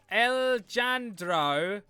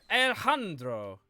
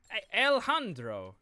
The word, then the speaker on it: Alejandro: The J is just usually pronounced like a H in most Spanish things. Oh, it's pronounced as a H, is it? J is pronounced as a H. So, Alejandro.